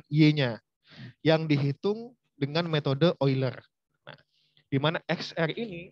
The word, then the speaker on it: Euler: Ini bacanya adalah Euler.